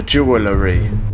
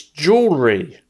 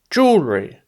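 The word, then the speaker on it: jewellery: the box containing the jewelry wrong again it's jewelry don't pronounce the last e jewelry carry on okay agent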